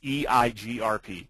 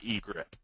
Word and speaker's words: EIGRP: that's a sticking point it is eigrp not egrip um that's not that's one acronym you never pronounce um eigrp is a